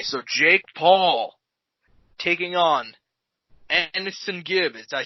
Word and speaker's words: AnEsonGib: Okay, so Jake Paul taking on AnEsonGib.